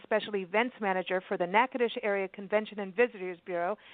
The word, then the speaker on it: Natchitoches: it for you because how we say NACA dish is not how it felt right Katherine that's absolutely